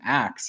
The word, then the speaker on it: ask: As a matter of fact, the pronunciation ax has been around in English for as long as the pronunciation ask has been.